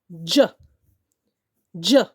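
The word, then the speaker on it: judge: यानी कि डी जी ई की साउंड के लिए, ज की साउंड के लिए हम डी जी ई यूज कर रहे हैं, जिसमें कि ई हमारा साइलेंट है। बिकॉज ई जब भी किसी वर्ड के एंड में आता है तो ई साइलेंट होता है।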